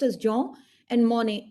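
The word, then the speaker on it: Jean: n j this is this is a French word so it's pronounced as johw and Mony m o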